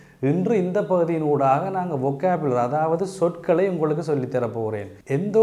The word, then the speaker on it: vocabulaire: எனவே வொக்காபுலேர், இந்த பூ என்பதற்கு பாருங்கள், தமிழில் பூ என்று சொல்ல முடியாது. எனவே தான் நான் ஆங்கிலத்தில் பியூவை போட்டு அப்போ புலர், வொக்காபுலேர். வொக்காபுலர் என்பது சொற்கள்.